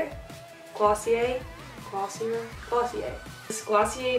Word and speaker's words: Glossier: this glossier right that's how you say it glossy a Aussie Aussie a this glossy a future do